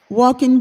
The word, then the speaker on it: Joaquin: But when Georgia said it, she Okay. was like, Georgia said, walking bear. I was like, Ah. yes, he's the walking bear.